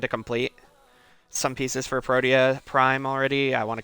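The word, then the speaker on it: Protea: complete some pieces for proteia prime already. I want to complete her too or prot if you pronounce it like that. the objectively incorrect way because I've got her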